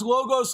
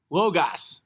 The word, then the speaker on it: logos: to explain explain himself pronounce logos like you pronounce chaos because they're the opposite of each other logos chaos yeah but there's an A in chaos there's no way in logos that's why Slayer reigning